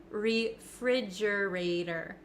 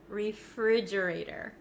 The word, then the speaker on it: refrigerator: how I pronounce it refrigerator refrigerator refrigerator now the ater the T at the end of this word it becomes a flap te in American English that means it kind